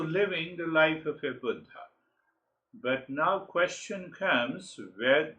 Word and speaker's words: Buddha: as Buddha and Awakening it is not Buddha as we Americans say you know the Buddha means the old guy it's a Sanskrit word or Hindi so when we say budha it means awakened it means awake so